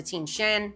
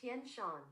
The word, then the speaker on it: Tian Shan: western group ranging across the Tinshen I hope I'm pronouncing these right. Tenshan Tenshan ranging across the Tian Shan Pamir and Trans Himalayan